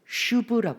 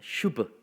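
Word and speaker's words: שוב: 이 단어는 뭐라고 읽냐면 여러분 슈브라고 있습니다. 슈브. 짧게, 부는 짧게 슈브.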